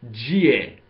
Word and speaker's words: Jie: larger sean new group the modern chinese name for sure liz tribe was GA but in ancient chinese it had a different pronunciation the pronunciation of this name was cat or kept or something along those lines and this tribe was